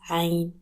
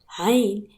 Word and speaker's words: Ayn: The closest thing to it is the letter A. While you pronounce A from the top of your throat, Ayn is a very throaty